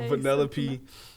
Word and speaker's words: Vanellope: well I keep on saying her name wrong because Vanellope vanilla Vanellope um I also like her